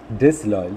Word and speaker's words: disloyal: So there are two stressed syllables here. Dis is also stressed. Loyal is also stressed. Disloyal.